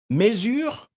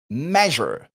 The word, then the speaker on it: measure: Vous êtes tenté de dire mesure, comme en français, measure.